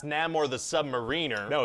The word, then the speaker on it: Namor: Yeah, okay, but first of all, it's pronounced Namor the Submariner.